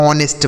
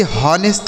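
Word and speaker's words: honest: इसे बच्चों ऑनेस्ट पढ़ा जाता है। एच ओ एन ई एस टी इसे पढ़ेंगे ऑनेस्ट। ठीक है? इसे हॉनेस्ट नहीं पढ़ा जाएगा।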